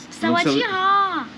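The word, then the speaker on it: สวัสดี: il faut faire ha la dernière syllabe il faut prononcer plus oh sawati ça c'est bonjour ouais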